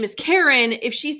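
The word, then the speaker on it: Karin: Triptych by Karen Slaughter. Is it Karen? It's Krin. I still think it's Karen. The audiobook narrators say Karen, but she says it in YouTube as Kareen, but then I've heard,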